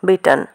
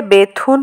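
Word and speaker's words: Bethune: ইহার নামের প্রকৃত উচ্চারণ বিটন। কিন্তু এদেশে বেথুন হইয়া পড়ি আছে।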